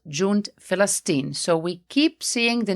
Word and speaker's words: Falastin: or in this case, it was changed into an F. So instead of Palestine, it became Falastin. And that is why Arabs will say Falastin instead of Palestine or Palestine.